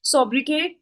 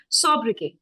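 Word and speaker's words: sobriquet: अब T silent होता तो पहले ही जिसमें टी की साउंड गिवन है उनको एलिमिनेट कर देते हैं. Third gone, fourth gone and fifth gone. First और सेकंड बचा है. इट्स नॉट सब, इट इज सोब्र. सो सोब्र सब नहीं होता. Answer is 1. This is the correct pronunciation of this word.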